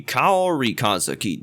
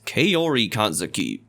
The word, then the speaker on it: Kaori Kanzaki: I hate to be extremely nitpicky here, but you said your first name wrong. It should be Kaori Kanzaki, not Kaori Kanzaki.